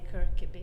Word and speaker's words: Kirkeby: to pronounce my apologies well in English I suppose we could say the kirab kirab yeah it's a beautiful